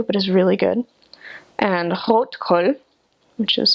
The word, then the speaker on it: Rotkohl: And rotkohl, which is how you would actually pronounce it, is red cabbage that's been pickled,